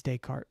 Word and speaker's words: Descartes: Descartes. Oh, ES. Because it's French. You like French. You just understand that you don't pronounce like half the letters in a word. They're just silent.